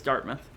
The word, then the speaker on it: Dartmouth: I love you, it's Dartmouth. It says mouth. That's how it's spelled.